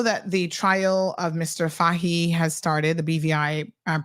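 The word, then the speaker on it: Fahie: this we know that the trial of Mr fahi has started the BVI um Premiere um is he still technically Premiere no he he resigned his it's his is actually pronounced Foy right Foy right don't ask me why what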